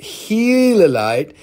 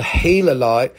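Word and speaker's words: gilalite: Now I got five gilolite, pronounced helolite. This is like nature's amazing corpus silicate.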